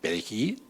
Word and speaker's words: perejil: pronunciara perejil y obviamente no lo pronunciaban bien no perejil ya al no pronunciar bien la ere pues obviamente ya lo